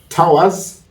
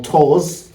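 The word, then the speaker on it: Tours: pronunciation wrong then he moved to Towers t o u r s or TOS whichever way you want to pronounce it then from there he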